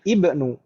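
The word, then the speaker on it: ابن: susunan kalimat seperti ini, maka hamzah ini tidak terbaca. Ya kan Ibu ya? Kalau di awal kita bacanya ibnu. Tapi kalau di tengah seperti ini tidak terbaca. Makanya kita bacanya tadi huwa ba'nu.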